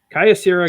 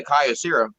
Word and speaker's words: Kyocera: We got Kyocera, Gung Sway, and Sprint.